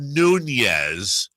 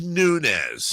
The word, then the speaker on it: Nunes: specific it's Brandon yeah it's not Nunes it's nunz well blame the Portuguese for that is that is that what it is is that a Portuguese thing they say nunz Spanish is Nunes by